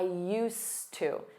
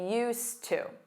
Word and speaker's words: used to: Notice that pronunciation. I used to. I used to.